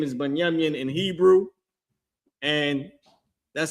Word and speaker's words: Binyamin: Their name is Binyamin in Hebrew, and that's how you pronounce that.